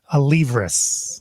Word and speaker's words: Alevras: guest how's that say hello everybody to oliveros good morning everybody what's up that's pronounced correctly right like absolutely you would